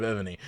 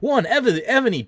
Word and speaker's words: Evony: It's with a V, EVONY for any of you not watching live. By the way, if I'm having a hard time possibly pronouncing that V there, so Evany does, or